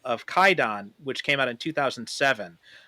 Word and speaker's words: Kwaidan: movie and you know I've called it kaidon U but it is spelled Quon on the on the DVDs so uh if you're looking for this movie do make sure you get the one with the W in it because that's the one